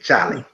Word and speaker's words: Cholly: I say it like I spell it like we said, Charlie.